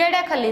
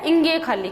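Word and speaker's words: ङ: नहीं, ये अड़ा खाली नहीं है, ये क्या है? इंगे खाली। क्या बनेगा? इंगे खाली। इंगे खाली क्यों कहते हैं? क्योंकि इस बेचारे का उच्चारण है वो इंगे खाली है।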